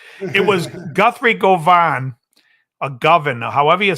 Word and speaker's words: Govan: was Guthrie Govan a governor however you say his name Guthrie was basically saying what's that it's govern like oven with a G oh okay so Guthrie